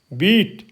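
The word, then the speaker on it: beat: बोलेंगे इसको ई बोलेंगे जैसे बी इ ए बीट बी का क्या बन गया बीट ठीक है तो इसका उच्चारण जो है बदली हो गया बीट बन गया क्योंकि इसके आगे ए आ गया तो बीट बन गया ठीक है जैसे सी एल एन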